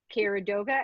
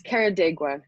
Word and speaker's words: Carrodegua: same questions so our guest today is carradova and am i pronouncing that correctly oh you're fine pam it's karadega it's actually a lot easier than what most